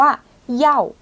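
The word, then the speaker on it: 要: ชู คู คำ ถัด ไป ค่ะ อ่าน ว่า เย่า เย่า เย่า แปล ว่า ต้องการ จะ เอา เย่า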